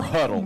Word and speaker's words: HUDL: is you're going to search for Huddle, and that is spelled like Brent said, HUDL. That's it, HUDL, and it's called Huddle Fan.